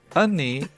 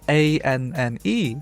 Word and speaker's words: Anne: If the second to last vowel sound is an A, it's more like an not an a. So it's and then if an word ends in E, it is pronounced E, not or just silent or anything. So it's ni.